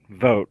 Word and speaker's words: Vogt: in the dart here it's voget vote like the election like the election see